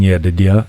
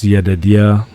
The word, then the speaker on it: Yedidia: And you know, I pronounce Yedidia two ways. It's either you could just flow past the DID, which is Yedidia, or you could say Yedidia, you know what I mean?